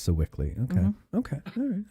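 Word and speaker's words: Sewickley: And that's pronounced Sickly.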